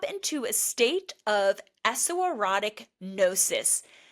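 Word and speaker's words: gnosis: So the transformation within eseroticism happens when you are able to drop into a state of eserotic nosis. Notice this is spelled G N O S I S.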